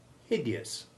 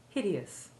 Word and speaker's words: hideous: ending but i'm afraid you'll hear it mispronounced as though it rhymed with outrageous which is what such a hideous mispronunciation truly is listen again to the correct pronunciation hideous hideous now you say all